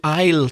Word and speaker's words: aisle: english-speaking country can Miss Smith please go to aisle 10 when they say can Miss Smith Miss